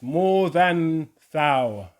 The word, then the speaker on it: Morgenthau: It's more than thou. More than thou. Yes. Morgan Freeman. I love that. That's not good. Morgenthau.